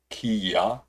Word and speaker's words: kea: The Kia is pronounced Kia. Kia.